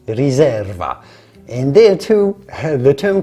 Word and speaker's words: riserva: and finally in Italy the word Reserva is pronounced Reserva and there too the term corresponds to an